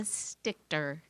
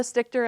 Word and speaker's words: Stichter: to you tonight stichter thanks she did a great job saying my name the right way everybody says it wrong and i said my